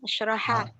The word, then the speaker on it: Asyraha: Pakai shin, Ustaz. Pakai shin, ash gitu Om. Ya, kemudian pakai ha. Pakai ha. Ya, asyraha.